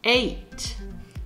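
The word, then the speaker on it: eight: Attention, on ne prononce pas le G ni le H. 8.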